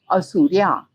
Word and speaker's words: Asurya: the texts rather, and even in the oral tradition of reciting the Upanishads, the word is pronounced as Asurya, and therefore you have